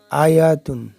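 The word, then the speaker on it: آية: আয়াতুন ওয়াকফ করলে হবে আয়াহ।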